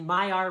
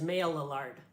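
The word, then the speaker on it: Maillard: saying that clearly says male allard but this word is french and my sources tell me that in france people pronounce this word my r and it's not just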